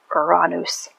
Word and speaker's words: Uranus: Uranus is actually in Greek pronounced, and if I am pronouncing this correctly, Oranous, which means son of heaven.